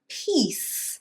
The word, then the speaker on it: piece: In this case, again, you want to make sure that you say the long E, beach, sheet, and piece.